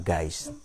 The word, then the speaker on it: Geist: Ini semua yang ada ini diatur oleh ada yang hakiki namanya Geist, atau tulisannya ya, bacanya dalam bahasa Jerman Geist, oleh roh itu.